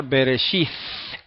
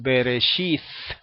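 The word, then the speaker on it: בראשית: de la palabra y el ejemplo clásico es beresit antes se decía en hebreo bíblico beresit una letra difícil de explicar de pronunciar porque casi no se oye si usted la pronuncia A menos que la otra persona esté muy cerca de usted no no no la va a escuchar m pero en el hebreo moderno siempre se pronuncia la tau igual okay aunque esté al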